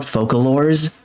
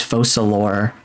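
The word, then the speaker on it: Focalors: used to call it focalor and I'm in hind like wait a minute it's French it's not focalor it's falor and falor makes so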